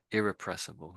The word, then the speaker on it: irrepressible: And I think they're saying there's a little bit of emphasis on the I at the beginning, irrepressible, and perhaps that E there, I guess.